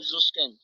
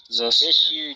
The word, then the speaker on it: Susskind: What about Leonard Zuskin? What about Leonard Zuskin, smartass? Wait, can you say his name again and say it slowly, enunciate? Leonard Zuskin. Susskind. You said S. What about Sskind? Oh, Susskind. Okay, sure.